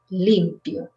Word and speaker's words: limpio: So if you change the accent in this word, it changes the meaning. Okay, so when it's this one, which is the adjective, you say it with the accent in the first one.